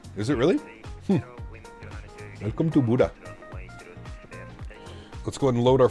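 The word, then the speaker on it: Bodø: well beautiful fun fact Boro is pronounced like Buddha is it really welcome to Buddha let's go and load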